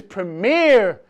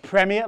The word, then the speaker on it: Premier: stop to you Americans pronouncing my league as premier. It's premier.